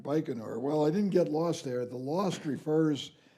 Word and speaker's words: Baikonur: You also mentioned that you got lost in a place, if I pronounced it right, Baikonur? Baikonur.